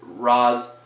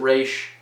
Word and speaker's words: Ra's al Ghul: Or Raish, depending on how you pronounce it. I always pronounce it Roz. Some people pronounce it Raish. Up to you.